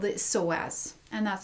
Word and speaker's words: psoas: But also I wanted to address the hip flexor here, and most particularly there's really one important hip flexor called the psoas, and that's spelled P-S-O-A-S.